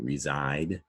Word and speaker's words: reside: Hear that Z, reside?